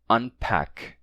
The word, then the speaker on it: unpack: Então, por isso temos palavras como unpack ou unbend, mesmo tendo um P e um B depois. O N se mantém, certo? Fica mesmo unpack, não unpack, mas unpack, unpack e unbend, sem assimilação, tá?